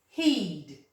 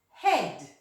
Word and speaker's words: head: Let's sound talk it together. Eed. Heed. Doesn't make sense, does it? Let's try the alternative. Ed. Head. Our head. Okay, so it works better with that alternative pronunciation, didn't it?